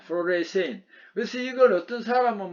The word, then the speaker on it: fluorescein: 발음을 fluoresce인이라고 합니다. fluorescein.